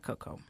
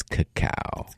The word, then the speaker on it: cacao: So So it's not cocoa. it's cacao. cacao.